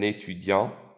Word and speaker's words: étudiant: as a student, un étudiant, un étudiant. Notice the T is silent in the end.